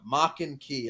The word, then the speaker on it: Maken-Ki: want to watch a crazy super Japanese anime maken-ki I don't know how to spell that but that's how you